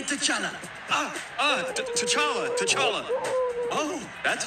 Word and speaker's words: T'Challa: say my name say to chana ah uh t'challa t'challa oh that's how you say it this